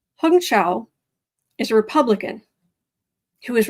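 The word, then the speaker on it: Hung Cao: what I okay apparently this man's name is pronounced hongcha I looked at I I saw I went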